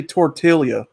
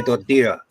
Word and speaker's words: tortilla: okay so I say tortilla right how is it how is it actually pronounced Portilla or tortilla yeah anytime you see two L's in Spanish like a y yeah yeah I mean